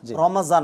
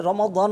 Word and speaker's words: রমাদান: আসলে ওজু না রমাজান অনেকে রমাজান বলে রমাজান বলে রমাদান বললে ভালোটা কোরআনে আরবিতে উচ্চারণ কিন্তু বাংলায় যেহেতু দকে জ এর মত উচ্চারণ করা অসুবিধা নেই।